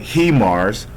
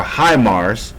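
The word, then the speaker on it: HIMARS: or i call it he mars or high mars which um if you're speaking in japanese terms you would pronounce this as he by english terms you will call it high so high mars or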